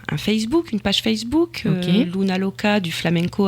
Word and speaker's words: Luna: Luna, ça se prononce ou mais c'est un u, hein.